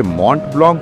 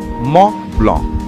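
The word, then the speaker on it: Mont Blanc: তবে মন্ট ব্লংক নয় লালমোহন বাবু। এখন ইউরোপে এসেছেন। এখানকার দ্রষ্টব্যগুলোর নামের উচ্চারণ ঠিক করে করতে শিখুন। ওটা হল ম ব্লক। তার মানে অনেকগুলো অক্ষরের কোন উচ্চারণই নেই। ফরাসিতে সেটা খুব স্বাভাবিক। লালমোহন বাবু বেশ কয়েকবার মবল মবল বলে নিলেন।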